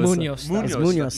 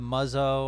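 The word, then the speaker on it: Muñoz: Munoz. You can say Munoz. You can say Munoz. Most people just say Muzzo or Munzo or just they don't say it right. Fuck that. We saying it right.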